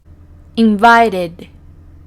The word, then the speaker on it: invited: verbo en una t según la regla número 3 al transformarlo en su pasado vamos a pronunciar esa ed como una idea invited invited simplemente estamos pronunciando esto invited invited y eso sería todo